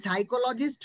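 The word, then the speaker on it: psychologist: আমি একটু শিখিয়ে দিই এখানে পি হচ্ছে কিন্তু সাইলেন্ট এই সাইকোলজিস্ট বানানের পিটি আছে সাইলেন্ট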